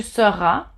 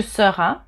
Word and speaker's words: seras: Tu seras. So you don't pronounce the S at the end. Tu seras.